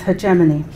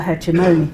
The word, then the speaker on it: hegemony: opposition takes place as hegemony or hegemony depends which of those two pronunciations you favor the control of one